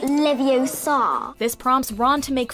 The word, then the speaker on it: Leviosa: to pronounce Wingardium Leviosa you're saying it wrong it's Levi Oar not Levi Oar this prompts Ron to